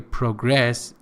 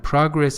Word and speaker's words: progress: the verb I'm sorry progress is a verb and progress is an hour so the noun has its stress on there first of all and the verb has its stress on the second syllable so he's progressing by